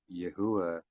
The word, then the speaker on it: Yahuwah: way, I found out his pronunciation of his name is actually Yahuwah, and it's not Yahweh.